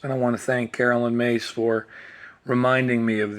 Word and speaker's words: Carolyn: heard of Carolyn ma it's Carolyn and then like Caroline like Sweet Caroline and then ma is